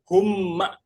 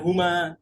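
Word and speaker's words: هما: Hum. Ma humma bukan huma beda ya. Ini mimnya ada tasdidnya.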